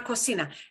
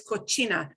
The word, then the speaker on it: cocina: Es una cocina. And it's important not to pronounce it as cocina, muy italiano. That is very Italian, cocina. If you listen to cooking shows, you probably heard cocina, cocina, or cucina.